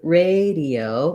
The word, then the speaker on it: radio: the vowel sounds so in radio we have first syllable stress letter a says the a diphthong it's going to be long and what people often